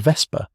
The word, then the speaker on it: Vesper: And though we jailed lang pronunciation lang rhymes with song, Malone ren pronunciation ren like pen and vesper pronunciation vesper like whisper.